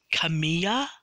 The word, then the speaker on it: Kamiya: I think her name is pronounced Kamiya.